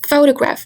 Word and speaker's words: photograph: For example, in the word photograph, photograph, we can hear more emphasis in the word fu. So the stress falls on the syllable fu.